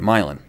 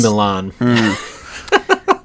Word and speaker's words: Milan: it's on the right milin yeah no that's in Italy no that's pronounced Milan oh that's a te